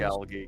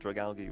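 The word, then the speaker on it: Dragalge: Dragalgi got a mega. I'm so happy. It's, oh man, It's one of my favorites. Dragalgi, yeah. I get. I do a hard G.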